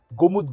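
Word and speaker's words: Golmud: जैसे मैं गोलमुड गोलमुड करता हूं तो गोलमुड नहीं है एक्चुअल में गोमुदत गुमुदत कहते हैं उसको। गोमुत एल साइलेंट है।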